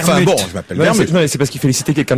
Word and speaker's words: Vermut: C'est Vermus, hein. Il n'y a pas de T à prononcer. Hein. Mais ils Oui, écrivent mais enfin Vermut. bon, je m'appelle Non, Vermus.